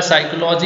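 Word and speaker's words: psychology: जैसे साइकोलॉजी हम बोल रहे हैं, साइकोलॉजी यहीं से खत्म हो जाएगा, ये पी का कोई मतलब नहीं है इसमें ना, तो पी एक साइलेंट अक्षर है, ठीक है, और ये काफी इंपॉर्टेंट है।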